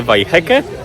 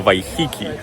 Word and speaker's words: Waiheke: najświeższa informacja jest taka, że chyba źle wymawiamy nazwę tej miejscowości. Więc je nie miejscowości, tylko wyspy. Więc jeżeli wy wiedzieliście jak się tę wyspę wymawia, to wybaczcie, że przez pierwsze kilka minut tego odcinka słyszeliście ją źle wymawianą. Podobno nie wheeke, tylko w Hiki.